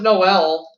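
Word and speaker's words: Noël: French for Christmas, it can be pronounced with 1 or 2 syllables. Contestant number 1. What is Noel?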